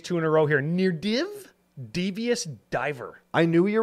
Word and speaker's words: Nirdiv: This is NDD, but that div at the end is like a stressed syllable, so it sounds like it's a triple D.